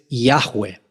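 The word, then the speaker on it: Yahweh: israelitas procuraron no decirlo y su pronunciación es un misterio Pero la más común que se ha podido discernir es yahwe derivado del verbo ha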